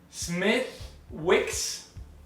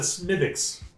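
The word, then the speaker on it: Smithwick's: it's like it's a smithics it's mythics you don't pronounce like the w is a little bit silent there well i i just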